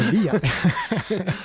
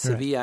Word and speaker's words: Sevilla: But I can tell you something about Sevilla that's interesting, and that is that the two L's are pronounced like a Y in Spanish. No, that's not what I said. Sevilla. Seville is Seville, so it's Sevilla, and that was not